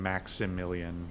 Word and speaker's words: Maximilian: tell me of yourself Maximilian I should probably be saying Maximilian because that's how it's spelled but I'm gonna slur my words like the American English speaking degenerate that I am perhaps now is a